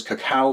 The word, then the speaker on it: cacao: All right, but coffee and cocoa or cacao as it's technically properly pronounced will make a really great rub for your ribs if you're looking for that sweet succulent flavor.